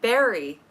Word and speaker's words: Barre: And Barrie is not spelled like Barry. It's Barre.